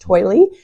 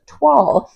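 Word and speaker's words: toile: it written out and I thought it was pronounced toily it is pronounced TW so I love this little TW I actually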